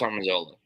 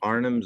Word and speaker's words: Arnim: I love this Armandola. It is straight up Kirby. It's freaking. How'd you pronounce it again? What'd you say? Arnim Zola. Arnim. Armandola. Not Armin. Arnim.